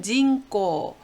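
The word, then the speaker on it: 人口: 그리고 인구는 징꼬. 예, 닝으로 읽을 때도 있었지만 여기서는 징으로 읽어서 징꼬.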